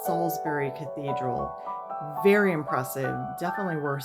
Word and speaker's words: Salisbury: It looks like it's pronounced Salisbury, but it's Salisbury Cathedral.